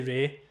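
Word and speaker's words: Wray: Her name's Lady Ray. Ray is spelled W-R-A-Y.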